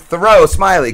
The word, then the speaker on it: Thoreau Smiley: Rob and Slim Show, we are back with Thoreau Smiley, correct? That is right, yep. What's going on, First try, good one. Did I pronounce it right?